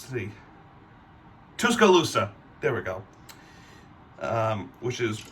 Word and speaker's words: Tuscaloosa: I can't pronounce the city. Tuscaloosa.